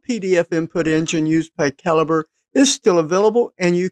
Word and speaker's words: Calibre: I have been told it's not Calibre. It is Calibre.